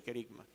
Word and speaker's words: querigma: al principio con el querigma. Como les dije, esta palabra es importante que la dominen bien. Querigma se escribe con K y con g medio, G de gato, porque es una palabra griega.